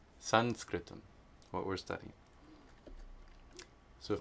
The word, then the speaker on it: saṃskṛtam: And then of course, have to explain why Sanskritam was spelled with the M with the dot underneath it and pronounced like a na, because it's Anuswara. Sanskritam. Sanskritam. Sanskritam.